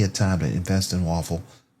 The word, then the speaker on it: Woffle: WOF is the actual ticker symbol, but it's spelled WOFFLE, Waffle.